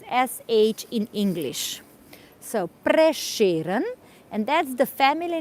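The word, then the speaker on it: Prešeren: accent so this s with an accent we pronounce as as sh in English so preran and that's the family name of this man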